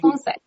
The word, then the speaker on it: feng shui: Am I pronouncing that correctly? Feng Shui? Feng Shui.